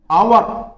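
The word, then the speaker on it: hour: यहां पर वो देखिए, द आवर, इसको क्या बोलोगे, आवर। यहां पर एच साइलेंट रहता है, आ की आवाज आ रही है, आ का साउंड हो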